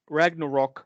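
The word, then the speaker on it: Ragnarök: So God of War Ragnarok. You have to say it like that because there's a little umlaut over the O or whatever.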